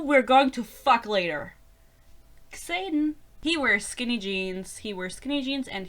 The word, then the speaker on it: Xaden: Like, I actually think it's Xaden, because you will also say Xavier in English.